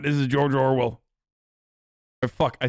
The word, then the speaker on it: Orwell: You say George Orwin so much, I forget that it's Orwell, to be honest.